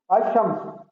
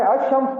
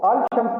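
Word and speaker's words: الشمس: अशम्स, अलिफ लिखेंगे, अल यानी शीन मीम, अशम्स। अब आपने देखा मैं अशम्स पढ़ रहा हूं, इसको अल शम्स नहीं पढ़ रहा, क्योंकि यहाँ लाम जो है वो साइलेंट है, इसको लिखा जाएगा लेकिन पढ़ा नहीं जाएगा।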